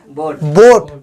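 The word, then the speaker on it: boat: बोएट क्या होना चाहिए, बोएट। पर ऐसे हम नहीं पढ़ते क्या पढ़ते क्या है, बोट। क्या पढ़ते हैं, बोट। ए यहाँ पे साइलेंट हो गया, सिर्फ हम एक ही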